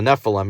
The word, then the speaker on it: Nephilim: Okay, so the Nephilim, it rhymes with Bethlehem.